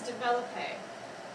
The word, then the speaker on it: développé: Your fifth word is développé. Développé sounds like the word develop, and that's exactly what it means.